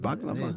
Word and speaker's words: Bhagavan: Bhagavan.